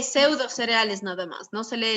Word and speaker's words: pseudocereales: Se lee pseudocereales nada más, no se lee esa P anterior. Se escribe sí, pero se lee pseudocereales.